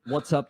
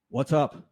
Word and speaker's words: WhatsApp: It's WhatsApp, by the way, Glenn. WhatsApp. What's up? WhatsApp. App? App. It's an app.